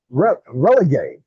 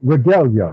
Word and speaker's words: regalia: red, white, and blue relegate. Did I pronounce that right? Blue regalia.